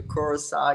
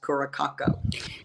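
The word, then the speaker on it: Curaçao: I have a good I had a very good friend that traveled with me to Kurissau, except she thought it was pronounced Kurako.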